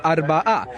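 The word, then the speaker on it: أربعة: La razón es que en árabe el 4 se pronuncia Arba'a, e invirtiendo las letras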